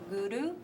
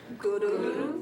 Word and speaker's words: guru: you from darkness right you make the r sound by clicking the tongue on the roof of the mouth so to guru guru guru and then dave rhymes